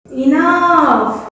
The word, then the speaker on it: enough: अभी सुनो, इनफ, ENOUGH, GH लगा, इनफ, फ्राइडे, FRIDAY, मैं एक एक लिख देती हूँ, जैसे देखो इनफ, GH लगा है कि नहीं, पर F साउंड कर रहा है, इनफ।